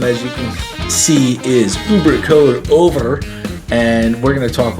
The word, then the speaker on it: Œuvre: We were just trying to get my pronunciation correct on the name of the album. It's Œuvre.